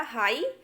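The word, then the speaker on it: high: देखिए पहला है हमारा हाई, तो हाई में हम GH को नहीं बोल रहे हैं, सिर्फ आई को प्रोनाउंस कर रहे हैं, हाई।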